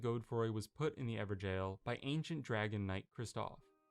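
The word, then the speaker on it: Evergaol: Ever jail. In it is pronounced Everjale, another of the Golden Lineage, who like Godric must have felt too weak for his illustrious line.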